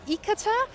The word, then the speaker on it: Ithaca: more inhabitants and more population than your hometown, Ithaca? How have I pronounced that? Ithaca.